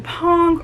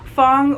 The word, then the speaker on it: Fong: For example, I kept saying Pong or Dong Tu, and in reality it's supposed to be Fong or Dong Tu.